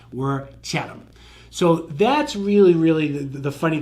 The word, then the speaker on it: Chatham: It's not Chatham. We're not talking any hams. We're Chatham.